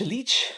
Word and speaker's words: Leitch: directed by David Lynch leach Lillis letting you sleep I think it's Mitch to the way it's spelled le i TCH he actually also directed